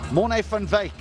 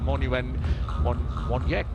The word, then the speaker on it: van Wyk: He's wearing Herschel Gibbs's t-shirt, but Morne van Wyk, is that the proper pronunciation? So the W is pronounced V.